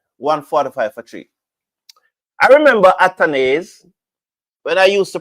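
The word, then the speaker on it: Athanaze: Some persons used to come on and say the man name pronounced atanaz. And so me listen to them and start pronounce it at. And then at came in an interview and said my name pronounced atones.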